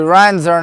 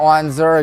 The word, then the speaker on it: Renzer: Actually, Renzer, not Wenzer, excuse me.